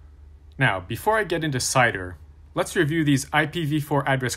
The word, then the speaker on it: CIDR: First is CIDR, pronounced CIDR, which stands for Classless Interdomain Routing.